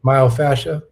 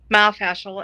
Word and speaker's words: myofascial: Myofascia. Myofascial.